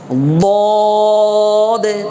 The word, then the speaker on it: ضاد: মিশে যাবে ভিতরে একদম গুম গুম আওয়াজ হবে ضاد ضاد ضاد اب بولیں ضاد ضاد ضاد ضاد ضاد ولا